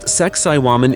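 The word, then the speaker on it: Sacsayhuamán: Located on the edge of the ancient city of Cusco, once the sacred capital of this mighty empire, Sakai Huaman, pronounced Sakaiwan in the native tongue, is not just the ruins of a fortress.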